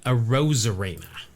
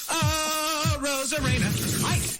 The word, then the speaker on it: Arozarena: Arozarena. Aye. Hyena is a bit of a stretch to to rhyme with Arozarena, but I appreciate the effort by Jeff Passan.